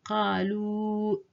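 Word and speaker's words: قالوا: The alif here is silent and so omitted in pronunciation. So we don't say qalu. No, we say qalu innama.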